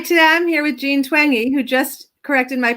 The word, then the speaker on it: Twenge: Twenge, like twangy guitar. Hi, today I'm here with Jean Twenge, who just corrected my pronunciation.